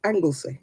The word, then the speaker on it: Anglesey: hello and you see angles slay angle sleigh or angle sly not sure how you pronounce that I want to say angleseed because that's like where in Wales isn't it that's what I want to say angles me forgive me of admiral angles Anglesey yeah not angle sly we